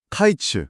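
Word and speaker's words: קַיִץ: 히브리어로 여름과일은 카이츠라고 발음을 하거든요. 카이츠요? 네. 근데 끝이나 종말을 뜻하는 단어는 캐츠입니다. 카이츠.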